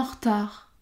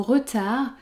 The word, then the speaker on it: retard: Ensuite, on peut supprimer le E du mot retard car il y a une seule consonne prononcée devant R. R. On peut donc dire en retard, en retard.